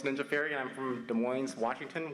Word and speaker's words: Des Moines: fairy and i'm from des moines washington where we pronounce the s yes this is my seventh